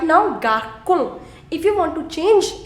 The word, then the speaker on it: garçon: it is pronounced as garçon. Garçon. Now, look at this combination. CO. Now, what did I tell you in the previous slide? I told you CO is Ko. So this is right now garçon.